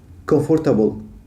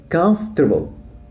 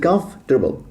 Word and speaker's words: comfortable: في كلمة مريح شائعة جدا، وكثير من الناس تلفظها comfortable. حقيقة ما هيك، هي comfortable. يعني comf لحال، يمكن ما رح تصدقني، هالمقطع يصير بالعكس. comfortable والتي بتشبه الدي، فبصير comfortable.